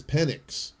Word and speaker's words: Penix: this year's draft and his last name is penix but he his name is penic but it's it's spelled p n iix okay that's terrible